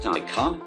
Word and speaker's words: Taycan: 2021 Porsche Taycan, pronounced Taycan, is a truly innovative electric vehicle, showcasing the high-performance potential of the species.